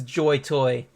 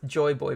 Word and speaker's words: Joy Boy: it's Joy boy boss oh then this joy toy ah he mispronounced it it's Joy boy boss yeah this is one